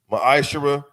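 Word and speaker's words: מעשר: Tithes, which is a commandment, book of numbers, chapter 18 21, the book of Malachi 3:8-10 means 10th in the Hebrew is pronounced maishara.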